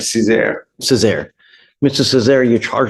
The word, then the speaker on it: Cesar: Is it Cesar? That's right, Cesar.